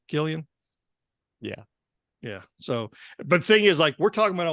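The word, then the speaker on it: Cillian: Murphy how do you say his first name Killian yeah yeah so but the thing is like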